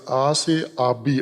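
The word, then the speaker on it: آس‌آبی: وہ پتھر گھومتا ہوا، آبی آس یا آس آبی اصل اس کا تلفظ ہے، آس آبی یعنی پانی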